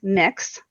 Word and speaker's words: Mx: new one that is gender neutral which is pronounced mix so it's mx period and it's it's the